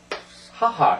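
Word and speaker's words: 母: 엄마는요 예 이렇게 해서 하하 이렇게 읽습니다 하하 하하 엄마 이것은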